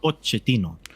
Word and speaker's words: Pochettino: It's Mauricio Pochettino. That's why I called him Poch, because that is how you pronounce Pochettino.